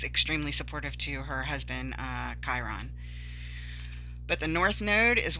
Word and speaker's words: Chiron: So Chiron, we know, is pronounced Chiron because that one is talked about a lot.